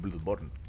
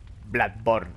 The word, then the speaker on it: Bloodborne: de ese tipo pero aquí la Blood es una especie de o abierta Blood pero no deja